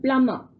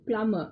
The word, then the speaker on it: plumber: Next one, plumber. B is silent. B in plumber is silent.